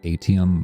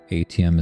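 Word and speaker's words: Aitum: But OBS, there's a plugin called Atom Multistream. Atom is spelled A-I-T, Atom, A-I-T-U-M, Atom Multistream.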